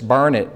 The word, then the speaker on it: Burnett: Burnett as his vice president. I learned the pronunciation of Burnett from one of my longtime favorite DRT friends, and she said it's burn it, darn it, learn it.